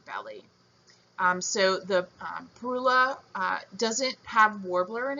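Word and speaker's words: Parula: The northern perula. Um I've also heard the name as perila. I think that might be the British pronunciation.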